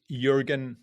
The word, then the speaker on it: Jürgen: That's Jürgen with a silent J.